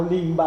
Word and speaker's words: limba: È una legge che porta alla migliore fonetica, per cui ecco perché noi diciamo limba invece di libba, se no sarebbe libba.